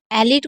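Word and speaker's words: elite: एलिट को एलिट पढ़ा गया है, आप ध्यान से देख सकते हैं। बहुत ही इजी है, बस आप यहाँ पर लास्ट वाले ई को साइलेंट रखिएगा।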